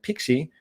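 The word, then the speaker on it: PKCE: the other that one as well anyway it's pronounced pixie but it's a proof code for key exchange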